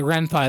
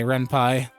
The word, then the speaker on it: Ren'Py: Okay, Ren'Py. That's how you pronounce it. Okay, Ren'Py.